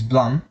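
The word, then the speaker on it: BLAME!: famous manga it's called blum it's written blame she don't blame but the right pronunciation is blunt because it should sound like the sound of a gun hitting metal right so you know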